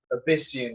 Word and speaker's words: Abyssian: work on pronouncing words I think Abyss right like the abyss they're all demons from the abyss what's a demon from the abyss abyssian abyssian yeah like like I